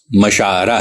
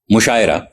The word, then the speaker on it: مشاعرہ: گئے ہیں، جیسے مشاعرہ، یہ لفظ مشاعرہ ہے، آئین پر زبر کے ساتھ، مفعلہ کے وزن پہ، لیکن اسے مشاعرہ کوئی نہیں کہتا، مشاعرہ زیر کے ساتھ مجہول کر کے